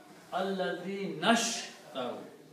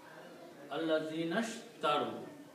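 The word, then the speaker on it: الذين اشتروا: So you do not pronounce this alif in the middle. You pronounce Allazinashtaru. Allazinashtaru.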